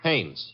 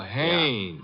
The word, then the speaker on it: Haines: Haines. H A I N E S. Ah. Oh, Haines.